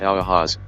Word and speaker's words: UAZ: Central Asia and Eastern Europe the u-az 450 pronounced Aloha's debuted in January 1958 produced by yulian of